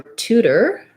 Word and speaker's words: tutor: and premature all right so for tutor we have first syllable stress tense ooh tutor tutor we use a flap here sounds more like a d and here's one of